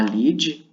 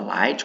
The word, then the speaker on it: lead: Abrir o tema com a lead, né? Ou a light, como alguns pronunciam.